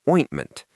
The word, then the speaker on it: ointment: Another thing in your kit is ointment. We mentioned this before, but let's practice the sound. Ointment. It starts with oin, like coin.